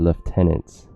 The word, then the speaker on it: lieutenant: the voice actor just pronounced lieutenants very weirdly so like you said left tunnels like with an F whatever all right let's